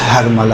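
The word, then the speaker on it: حرملہ: طور پہ ہرملہ۔ دیکھیں اصل تلفظ ہرملہ ہے، جسے ہم لوگ اپنی زبان میں ہرملہ کہتے ہیں، صحیح؟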